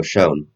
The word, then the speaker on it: Schoen: So that's why GMs like Joe Schoen, that's how you pronounce it? yeah, Joe Sean.